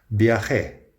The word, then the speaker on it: viajé: Viajé a México hace muchos años. Listen to the pronunciation there. Viajé with kind of a ch sound.